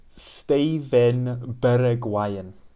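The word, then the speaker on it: Steven Bergwijn: not steven bergwan it's not even close it's steven berg wyan the dutch orange pink wine okay steven bergueyen stephan defriel is stefan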